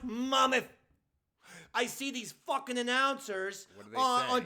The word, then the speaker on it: Monmouth: And it's pronounced Monmouth.